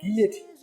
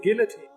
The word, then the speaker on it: guillotine: One, as the French call it, guillotine, or as we would say, guillotine.